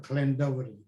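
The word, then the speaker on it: Llandovery: in a welsh village called clendovery spelled with double ll clan devil uh so i'm in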